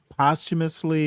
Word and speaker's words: posthumously: He could have at least uh posthumously pardon Jack Johnson. That would have been a a sign of something. Okay, number one. Whoa, whoa, whoa, whoa. We get it. Postumously is how you pronounce the word.